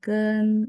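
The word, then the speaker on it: 根: Bacanya sama ya, nada satu teman-teman.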